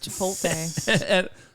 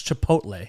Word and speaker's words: Chipotle: and Team Darren, you get free guacamole at Chipotle. at where? Chipotle? Nope. How do you not know how to say it? No one does. It's so weird. Most people say Chipotle. They don't. It's Chipotle.